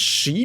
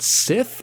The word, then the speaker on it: Sith: she are you serious it's pronounced she not Sith is that like is